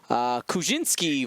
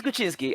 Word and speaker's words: Kuczynski: It's Kuczynski. I don't know how to pronounce many European surnames, but we have had a president with that last name, so I know how to pronounce. Yeah, it's Kuczynski.